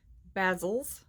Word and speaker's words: bezels: Anyway, these are called, I'm going to screw up how you say it, Bezels.